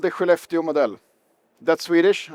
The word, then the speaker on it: Skellefteå: And it's called the Skellefteå model.